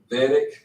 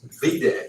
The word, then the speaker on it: VEDIC: VEDIC. Did I say that right? You said it right. Dang, I used to say it VDEC or something.